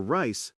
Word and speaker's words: rice: For rice, the food, the sound typically doesn't touch the top of your mouth. Your tongue sort of pulls back and curls a bit. Rice.